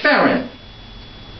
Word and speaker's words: Fearon: Yes, Fearon. How do you spell it?